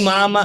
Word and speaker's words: mama: Don't call me Sir call me Mama ah accent on the second syllable wow May ganon pa ' ba m hindi hindi mama mama o para namang